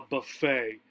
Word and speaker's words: buffet: This is a Chinese buffet, right? In this time in American English, right? A buffet, right? British English would pronounce it a buffet, right?